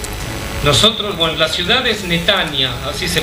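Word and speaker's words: Netanya: ciudad donde viven nosotros bueno la ciudad es netania así se pronuncia netania estamos 30 km al norte de tel avid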